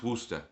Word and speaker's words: Worcester: It is actually pronounced Wora. Wo R C S T E R. Uh Worster is the second largest city in Massachusetts.